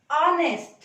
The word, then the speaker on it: honest: Though the first letter is H, that is a consonant, but how do we pronounce it? Honest. A in Hindi and O sound with English. So, the first sound is vowel.